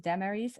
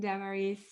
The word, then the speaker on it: Damaris: Good morning, Damaris. Am I pronouncing your name correctly? Close, Damaris.